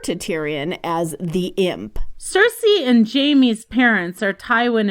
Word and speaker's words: Cersei: Cersei is pronounced like Circe, Cersei, who was a nymph, enchantress, and sorceress in Greek mythology.